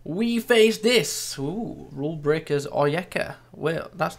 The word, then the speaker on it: Onyeka: Ooh, Rulebreakers Onyeka. Well, that's not how you say it. Yeah, it is. Onyeka.